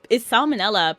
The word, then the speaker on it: salmonella: It's salmonella because it rhymes with umbrella.